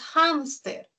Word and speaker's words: hámster: Entonces tiene la mayor fuerza de voz en hams. Es una grave, ¿no? Por su ubicación de la sílaba tónica, el acento, ¿no? Y termina en R. Las graves que terminan en R sí se tildan. Así que tildamos hámster.